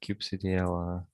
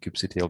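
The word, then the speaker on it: kubectl: all these kubernetes uh ctl cattle tools they're all in go like cube cdl oh i keep saying cube ctl because this is how i am used to calling this yeah so i was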